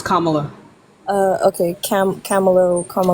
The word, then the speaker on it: Kamala: how can how is Kamala any better that's not how you pronounce her name it's Kamala uh okay Cam camalo